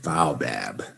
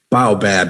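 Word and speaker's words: baobab: say it the right way of course okay bow bab bow bab everybody sit with me bow bab very good okay a broad trunked tropical tree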